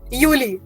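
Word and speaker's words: Juli: so June was यूननी नाउ जुलाई will be यूली okay so यूनी यूली यूनी यूली okay Akanksha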